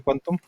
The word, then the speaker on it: qntm: esantum, no sé es QNTM, lo escribe así, pero se pronuncia Quantum y está bueno.